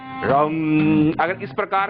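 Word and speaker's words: रं: र के ऊपर बिंदी और टंकार है रम।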